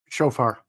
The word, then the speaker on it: shofar: Alan, how do you pronounce that? Shofar.